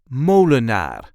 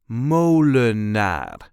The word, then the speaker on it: Molenaar: This is the way we say Molenaar. Molenaar. There is a light emphasis on the first syllable.